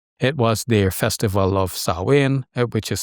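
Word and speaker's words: Samhain: It was their festival of Sawin which is spelled Sam Hen, spelled like Sam Hen but pronounced Sawin.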